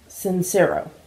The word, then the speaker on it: Sincero: Sincero, I think is how you say it.